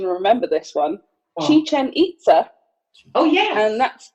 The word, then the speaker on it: Chichen Itza: We're going to move over to Mexico now, and we are going to, and I did look up the pronunciation and remember this one, Chichen Itza.